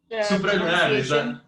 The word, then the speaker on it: Supralunar: I want to pronounce it correctly. It's Supralunar. Is that correct? Supralunar. That's correct. Supralunar.